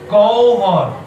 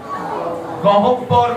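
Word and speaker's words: গহ্বর: বিউবল বিউবল বিউবল বিউবল একই ভাবে বলবো গবর গবর গবর গবর গহব্বর বলবো না কি বলবো ডবল বিউবল বিউবল মনে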